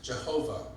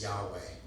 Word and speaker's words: Yahweh: the vowels were added, they take God's name into 3 syllables, Jehovah. But most scholars think that it is 2 syllables, and that the name is Yahweh, with the A and an E being the vowels.